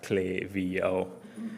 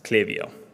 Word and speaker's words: Klaviyo: Most importantly, it's pronounced as Klaviyo. I've heard a lot of mispronunciations. It's not Klaviyo. It's not anything else that you thought of. It's Klaviyo.